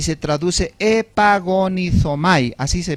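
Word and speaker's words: ἐπαγωνίζομαι: Ahora, la frase contendáis ardientemente es una sola palabra en el griego y se traduce epagonizomai, así se pronuncia.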